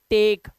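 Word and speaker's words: take: गया, कोई बात नहीं, टी ए के ई, टेक। अब लास्ट का जो ई है वो साइलेंट है।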